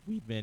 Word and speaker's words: Weidman: leer cllean made against Mr Weidman weed Weedman actually is how you say his name sorry that's the super